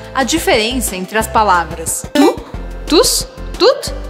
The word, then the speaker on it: tout: Para você dominar essa pronúncia, não esqueça que você tem que falar tu, como se fosse tu em português.